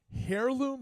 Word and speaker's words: heirloom: Heirloom or heirloom? Heirloom. So the H, The is, H is silent.